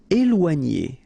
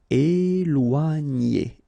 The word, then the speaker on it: éloigner: Okay, so here you've got this accent aigu on the top of E, so you will get the sound E, okay, and after that you've got this OI, OA, and then G, N together, N.